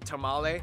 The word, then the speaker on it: Tamale: The country is made up of 10 regions with some interesting sounding capitals like Wa, Ho, and Tamale, and of course the capital Accra. Yes, Interesting. that's how you pronounce it, Accra, located in the southeast along the coast.